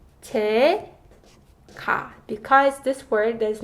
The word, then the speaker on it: 제가: So the correct way to say it is not 저가, but it's 제가.